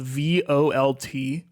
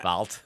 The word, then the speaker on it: Volt: There's a gun in Apex that's spelled VOLT, like it's like a battery, right? Yeah, volts. Well, see, that's the thing. It's like volt is how everyone I know says it, but I like vault.